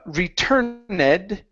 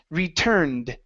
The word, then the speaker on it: returned: Instead of uh returned, it's returned. Returned.